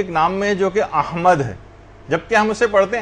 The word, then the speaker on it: احمد: یعنی صحیح تلفظ ہے، الف پر زبر ہے، ہا جو ہے وہ ساکن ہے، میم کے اوپر زبر ہے، اور دال جو ہے وہ ساکن، احمد.